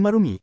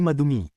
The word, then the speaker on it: marumi: Ma dagdagan ng dumi. Nagiging marumi. Hindi madumi. Ma dagdagan ng dami nagiging marami hindi madami.